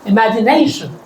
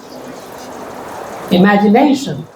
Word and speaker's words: imagination: And stress the syllable before shun. Examination. थोड़ी होशियारी मारवी. Right? Yeah. A little louder. Can you speak after me? Imagination. Imagination.